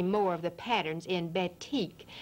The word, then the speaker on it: batik: now let's go on to talk about the batik ba tik is the way this craft Farmar this textile term is pronounced it's very very old it comes to